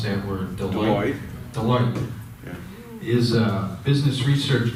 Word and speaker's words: Deloitte: I was gonna ask Dave, how do you pronounce that word? Deloitte.